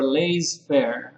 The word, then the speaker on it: laissez-faire: Laissez or laissez-faire, I think is the correct pronunciation.